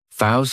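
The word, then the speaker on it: facetious: Faust has 3 syllables, and the stress is on that second syllable. It's like you're just saying the letter C for C. That first syllable has that schwa, that sound.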